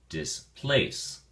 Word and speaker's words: displace: at your flash card displace has two syllables and the emphasis or stress is on the second syllable place so we say displace displace uh we have have